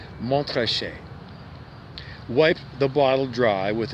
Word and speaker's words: Montrachet: he tangled his tongue trying to pronounce the name of the wine montreshe americans might say montochet he arrived at what seemed to him an acceptable pronunciation montrachet wiped the bottle dry